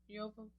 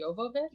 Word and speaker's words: Jovovich: Dare I ask his age when he got with Mila Jovovich? How do we say it? I always called it Jovovich, but it must be Jovovich? Jovovich. That's what the IMDb pronunciation guide told me.